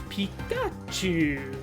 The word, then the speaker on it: Pikachu: it's three syllables it's Pikachu but I said there's five characters there's a small character that basically instead of chi and U it's pronounced Chu Clea cluff's Japanese name